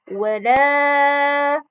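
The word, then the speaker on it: وَلَا: Lafaz yang pertama adalah wala. Hukum tajwidnya adalah mad tabi'i. Kenapa disebut mad tabi'i? Adalah ketika fathah bertemu dengan alif, maka disebut mad tabi'i. Cara membacanya 2 harokat. Maka bunyinya menjadi wala.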